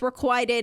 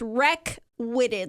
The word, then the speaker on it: requited: And so I was like, no, it's requited. And she texted, it's rec-witted, like WRECKWITTED, rec-witted. And I was like, no, that's how Adam pronounced it. And I know because I've heard unrequited love. It's got to be requited.